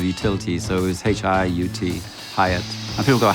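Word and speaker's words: Hiut: two letters of utility, so it was H-I-U-T, Hieatt. And people go, how do you say it? I'm going, how do you want to say it? You can say Hieatt, Hieatt, who gives a shit?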